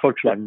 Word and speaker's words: Volkswagen: I know there's the American way, but I guess the real pronunciation is probably like Volkswagen or something. Yeah, but it sounds better than what I could say. Okay. It's Volkswagen, yeah.